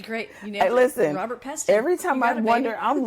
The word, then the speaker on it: Robert Peston: final episode of us discussing The Whistleblower by Robert Peston. Is that did I say it right? That's gret. You nailed it. Listen, Robert Peston.